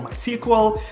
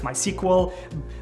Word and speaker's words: MySQL: I think it's pronounced me SQL I read somewhere that the creator of database has two girls one is me and the other one is Mariah so I think it's actually me sequel not my sequel anyways